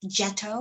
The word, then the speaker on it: ghetto: Actually, in Italian, it's pronounced getto with a soft G, and it means foundry.